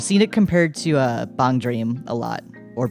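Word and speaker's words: BanG Dream!: it compared to a bong dream a lot or bang dream but depending on how you prefer to pronounce it I'm pretty sure technically it's bong dream though oh you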